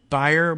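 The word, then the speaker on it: Bier: According to the Cato Institute's David Beyer, or Beer, if you pronounce it in the German style, B-I-E-R, Beer, adding just 1.5 million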